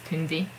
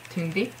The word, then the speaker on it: Tündi: of nicknames, and that's Tündi. That's how I write it, Tündi. And this vowel is like the French U, which you pronounce as U, or Ituk's name, or Unhyuk's name, and not U, U.